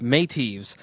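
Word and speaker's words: Meitiv: So how did they pronounce it? Medev? They said Métis. Métis.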